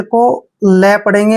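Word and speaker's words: clap: Next word, जब भी सी के बाद कोई कॉन्सोनेंट आता है तो सी का उच्चारण हम कै करते हैं, ठीक है। और एल को ले पढ़ेंगे और ए को ए की मात्रा पढ़ना है, पी को पै पढ़ना है।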